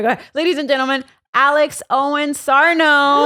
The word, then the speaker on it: Alex Owens-Sarno: I'm just going to goe ladies and gentlemen Alex Owen Sarno y I said it right you did it